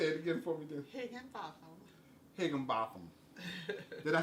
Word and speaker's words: Higginbotham: Higginbotham. Higginbotham. Did I say it right that time? Higginbotham, yes.